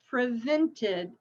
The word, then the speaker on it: prevented: So prevent, it ends with a T, so we have to add that other syllable. Prevented, prevented.